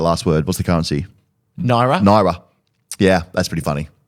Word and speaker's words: naira: Naira.